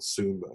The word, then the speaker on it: Zumba: Well, just remember it's Zoom and then dash ba. Okay, Zumba. It's like two syllables, and you're breaking up the syllables with that dash.